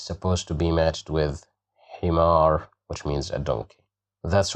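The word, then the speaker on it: حمار: Here we have kasra, he, himar, himar, himar, which means a donkey.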